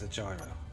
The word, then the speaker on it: gyro: Is it pronounced a euro or a gyro though? Gyro. In this case, it's a gyro.